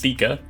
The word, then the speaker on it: theca: It's pronounced Theka.